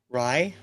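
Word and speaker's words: Raï: considered was it ra AI how do you pronounce that Ry R yeah that's the type of music this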